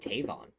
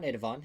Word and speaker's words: Tavon: It's just Tavon. It's not Nidavon. It's not backwards. It's just Tavon. Is a good way to pronounce it.